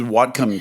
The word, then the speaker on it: Whatcom: Yes, this is Whatcom County Council, but yes. They are quite significant as well. Really excited about Whatcom County.